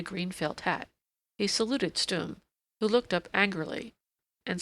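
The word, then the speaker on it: Stumm: "Why, it's Colonel Stum!" he cried. He pronounced it like the first syllable in stomach.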